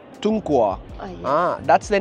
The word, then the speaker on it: 中国: 中国. Tunghua. Oh, yes. That's the name of your country. Yes. Tunghua. 中国, yeah, good pronounce.